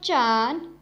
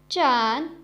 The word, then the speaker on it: zhan: The next Pinyin is ZHAN, has a pronunciation of chan, chan. Repeat after me, chan.